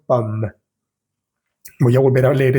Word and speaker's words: pomme: Justo después de pronunciar la M suena o sale un pequeño aire que da la impresión de que estoy pronunciando la E, pero no es pomme, sino pomme.